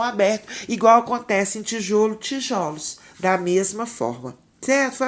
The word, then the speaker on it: tijolos: nós empregamos no plural, o som fechado O da sílaba pronunciada com mais força transforma-se num som aberto e vira O. É o caso, por exemplo, do substantivo tijolo, né? É mais fechado, O fechado, cujo plural é tijolos.